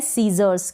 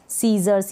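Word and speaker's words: scissors: यहाँ पर भी एस सी के बाद क्या है? आई है। एस सी के बाद आई है, इसलिए जब भी एस सी आता है तब हम एस सी को स पढ़ते हैं।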